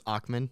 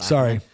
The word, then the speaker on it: Ackman: So I think that, you brought up Bill Ackman. By the way, I'm going to correct you. It's Ackman, not Ackman.